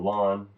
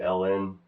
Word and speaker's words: ln: to Y = L5 I've gotten in the habit of pronouncing it lawn I don't know how that started a lot of people say Ln I say lawn I think some people in Europe might say it that way but anyways I've always thought